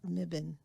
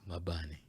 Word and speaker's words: Mebane: Mabani. It took it takes a lot of correcting people because phonetically it's spelled differently than it's pronounced.